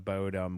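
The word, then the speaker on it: Bodom: Talking about children of Bodm, which is the way you're supposed to pronounce it as children of Oh, no. I always said bottom like a tushy.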